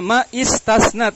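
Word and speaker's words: ما استثنت: Mastasnat, dibacanya ma istasnat, disambung mastasnat illa ma'tamamin yantasib wa ba'da nafyin au kanafyin untukhib, di situ dibaca untukhib majhul.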